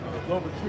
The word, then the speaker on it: Louverture: I couldn't pronounce it. Yeah, something like that. Yeah, his last name starts with an L. Louverture.